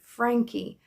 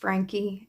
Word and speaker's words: Franke: Franke. I've heard it pronounced Frank, then I've heard it pronounced Frankie, and I'm going with that.